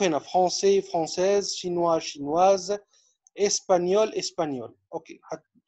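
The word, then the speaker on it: espagnol: هنشوف هنا فرنسي فرنسيز، شينوا شينواز، اسبانيول اسبانيول. اوكي، الجي والان ده، الجي والان بننطقهم نيه، زي ما في اللغة العربية نونيه، فبقول اسبانيول اسبانيول.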